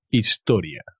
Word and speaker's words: historia: un acento cuidado history historia con la H que no se pronuncia historia a hospital un